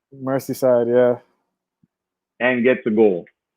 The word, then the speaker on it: Merseyside: job Felix goes into how do you say mercy site Merseyside yeah and get the gold against the scousers